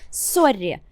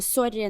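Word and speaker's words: sorry: спочатку Давай його розберемо це Сорі так не англійська S не американський лад а саме норвезька вимова Сорі але це є Калька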